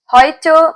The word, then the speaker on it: heute: Heute means today. The pronunciation heute, it's pronounced as A in German.